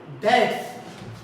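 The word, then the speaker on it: debts: बैड डेट्स, यहां पर भी बी साइलेंट हो गया, डेट्स, ये डेट्स ना हमारे डेटर से ही क्रिएट हुआ है।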